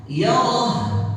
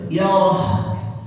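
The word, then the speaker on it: يره: Yarah. Hanya ini di belakang. Yarah. Harus ada itu gitu. Harus ada apa? Kedengaran huruf ha sukuni.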